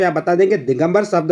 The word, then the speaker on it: दिगंबर: पे आप बता देंगे दिगंबर शब्द में व्यंजन संधि है और उसका उच्चारण होता है दिक धन अंबर आधा क धन अम अ तो यहां पे व्यंजन